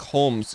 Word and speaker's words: Holmes: silent yeah so it's a weird english english name with a bizarre silent l but yeah so that's why it's just sherlock holmes because it's basically identical